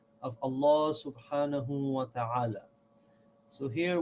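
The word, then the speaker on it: الله: in the name of Allah this mat is pronounced heavy meaning law we say Allah of course this I live here this is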